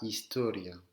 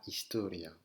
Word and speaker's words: historia: En espagnol, le H ne se prononce pas. D'accord? La historia. Le H ne se prononce pas. La historia.